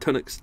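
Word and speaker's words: Tunnock's: uh bacon tart and some uh tonics cs pronounced it right tunax tea cakes i've still got them i haven't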